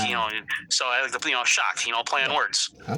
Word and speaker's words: Shock: my last name is it's pronounced shock. So, you know, if you if you say with like a boss accent, you know, oh, look, I got shocked.